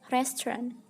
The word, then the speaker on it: restaurant: Pengucapan yang benar itu adalah restaurant. Nah, jadi di situ ada seperti pemendekan, restaurant.